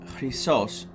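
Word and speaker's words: Χάος: two with you are Kos in Greek is pronounced chos and it's the golden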